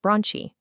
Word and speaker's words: bronchi: Next, meet the bronchi, pronounced bronchi.